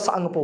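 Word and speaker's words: Tsangpo: से जाना जाता है वैसे त त सांगपो बोलते हैं त साइलेंट रखा जाता है कहां से निकलती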